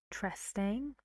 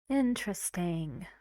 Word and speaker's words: interesting: so we say in interesting and this is again relaxed very fast just say it quietly interesting interesting how many syllables it's a big word three syllables and the stress is on the first interesting in a British